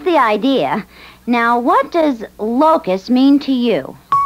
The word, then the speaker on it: locus: Now, what does locus mean to you? It's an insect, and when they come in swarms, they eat plants and leaves. No, that's locust. I said locus. L-O-C-U-S, locus.